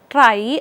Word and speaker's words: trie: of words we are going to use a try so TR is spelled as t r i e and if we want the plural thing we will say t r i e uh s so this term try actually comes from uh the word retrieval so